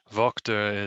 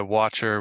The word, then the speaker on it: Wachter: watcher because it's easier for him but uh vogter is the german pronunciation but uh i go by watcher watchtower watched her whatever whatever i like watcher